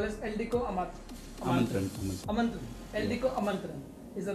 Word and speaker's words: Eldeco Aamantran: Eldeco Amantran is the right word to pronounce it.